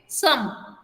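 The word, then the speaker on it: some: ठीक है, सम, ओके, सम हम लोग ऐसे बोलते हैं, लेकिन इट इज सम, O sound बीच में सुनाई नहीं देगा, ओके, सम, सम, ठीक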